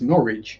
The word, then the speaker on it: Norwich: Yeah, and that is how you pronounce Norwich if you're native to Norfolk.